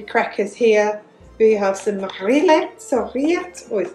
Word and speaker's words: rillettes: We have some rillettes or rillettes, oh, don't pronounce the L, rillettes, it's kind of like a pork pate.